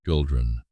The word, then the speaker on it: Gildrun: name in the morning, Gildrun. Drawing out the second syllable like it was a note in a song, Gildrun.